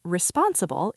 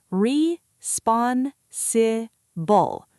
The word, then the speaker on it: responsible: The word responsible is quite long. Let's practice the pronunciation together. Re-spon-si-bul. Responsible. The stress is on the second part, responsible.